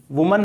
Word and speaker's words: women: अभी तो आप ऐसे समझ लें कि WOMAN का प्रोनाउंसिएशन वुमन है और WOMEN का प्रोनाउंसिएशन विमेन है। ये आपको ध्यान रखना है, वुमन और विमेन।